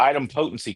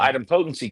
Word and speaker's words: idempotency: And the item potency key, which is spelled IDEMPOTENCY.